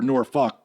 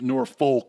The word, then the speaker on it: Norfolk: naval base or folk Norfolk or Norfolk that that's actually how you pronounce it I've never been comfortable that Wow 100 music boosted our rating to nc-17 I once was pronouncing it Noir full to avoid that and I was corrected a hundred times and it was down